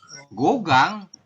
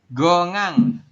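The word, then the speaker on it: 공항: gogang. Gongang. Gongang. Iya, bukan gogang, gongang ya. Kan haknya hilang. Jadi gongang kayak gitu.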